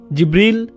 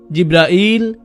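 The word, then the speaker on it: جبريل: জিব্রিল, জিব্রাইল, জিব্রাইল, জিব্রাইল, জিব্রিল, এই 5 ভাবে তার নাম উচ্চারণ করা হয়। আর এটা বিভিন্ন কিরাতের মাধ্যমে বর্ণনা করা হয়েছে।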